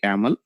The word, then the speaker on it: yml: Okay, for pronunciation purpose we call actually yaml, so extension is .yml here.